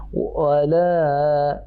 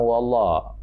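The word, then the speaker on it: وَلَا: Wala la, bacanya bukan wallah. La tipis ya, sambil senyum.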